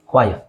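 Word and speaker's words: choir: ಕೋ ಇರ್ ಅಲ್ವ ಅಲ್ಲ ಇಟ್ಸ್ ಜಸ್ಟ್ ಕ್ವ ಕ್ವಯರ್ ಕ್ವಯರ್ ಕೊನೆಯಲ್ಲಿ ಆರ್ ಬಂದ್ರೆ ಸೈಲೆಂಟ್ ಮಾಡಿ ನೆಕ್ಸ್ಟ್ ಇನ್ನೊಂದು ಡಬ್ ಸಾರಿಜಿಎಜಿಇಜಿಎ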